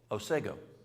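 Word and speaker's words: Otsego: who's our Michigan folks how do you pronounce ostego acego yes osego that's that I have a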